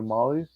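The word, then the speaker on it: Mahle: Yeah, given the pitching statistics behind the total, we're seeing a lot of overs with Hauser and Molly, Tyler Molly. Yeah, that's how you Mhm. pronounce his name.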